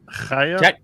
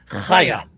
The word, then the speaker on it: Chaya: It's pronounced Chaya. I'm going to get Chaya. Chaya. Get up in the back of your throat.